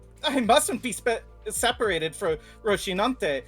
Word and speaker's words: Rocinante: me to board with Rocinante. I always thought it was Rociante because that's what I hear when she uses her ego.